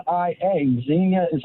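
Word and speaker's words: Xenia: because of Zeno oh x n i a Zena is how you pronounce it spelled with an X that's why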